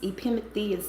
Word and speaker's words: Epimetheus: Epimetheus, I believe, is how it's pronounced.